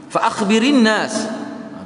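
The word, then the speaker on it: فأخبر الناس: la'alla al-hayah satatulu ba'di fa akhbirin nas. Itu cara baca dia. Walaupun ra tu mati, tapi bila kita sambung semua baca Quran lah. Fa akhbirin nas. Ra tu kita kasrahkan kerana nak sambung hamzah.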